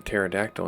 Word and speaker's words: pterodactyl: Why can't you hear a pterodactyl in the bathroom? Because the P is silent.